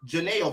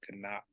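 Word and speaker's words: γεννάω: First of all, it's not j like jelly, it's g, like a gargoyle or garbage. And there's no ao, it's ganao.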